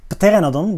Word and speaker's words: Pteranodon: By the way, I pronounce it Pteranodon with the P, but I know in English the P should be silent. But I'm using the Latin pteranodon, of course. So pteranodon in English.